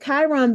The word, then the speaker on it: Chiron: how Chiron right here this K in the middle even though Chiron is spelled c h